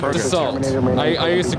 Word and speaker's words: Dassault: Dassault, I always pronounced Dassault. Oh, yes. Yes. But they're pronounced Dassault. I learned that from working with those planes.